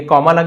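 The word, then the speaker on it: calmly: The doctors wife doctor की पत्नी ये कॉमा लग गया। एपॉस्टोफी एस कहते हैं। एसोपॉस्ट्रोफी का की के डॉक्टर की पत्नी कामली एल यहां पे साइलेंट है। कालवली नहीं बोलेंगे। कामली शांति से बोलते हैं काम डाउन।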